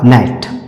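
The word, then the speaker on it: gnat: नियम कह रहा है जी के बाद एन आने पर जी साइलेंट है तो इसका उच्चारण क्या हो जाएगा इसका सही उच्चारण हो जाएगा नेट इसका सही उच्चारण क्या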